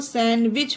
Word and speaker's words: sandwich: यहाँ पर भी सोच लीजिए कि डी है ही नहीं, क्योंकि डी साइलेंट है, डी नहीं है, तो सैंडविच होगा।